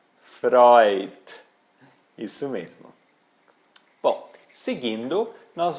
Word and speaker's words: Freud: um exemplo aquele psicanalista famoso não é o Freud é o Freud Freud isso mesmo bom seguindo nós vamos ter agora